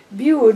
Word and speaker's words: Bude: and they went to bude bued which rhymes with dude is in cornwall and